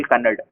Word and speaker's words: Kannada: So in Bangalore, if you tell the name Akshaya, in Kannada actually it ends with a.